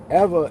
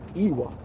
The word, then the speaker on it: Ewa: names here is the town called ever ever is spelled Ewa and when I was calling it EA they were looking at me crazy because it's not EA it's ever so with that being